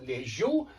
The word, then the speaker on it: лежу: Я все еще лежу. And yet it's on the second syllable, лежу.